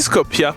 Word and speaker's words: Skopje: T'as aussi Skopje, oui, ça se prononce de même, qui est la capitale et qui est aussi super grandiose.